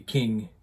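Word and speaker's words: Qing: And I'll pronounce it that way because apparently one of the banners that you see on the wall, if you translate the Chinese, says, "Resist the king, restore the Ming." So it rhymes. So that's the way I'm going to pronounce it.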